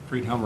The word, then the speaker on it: Friedhelm: Friedhelm, yes.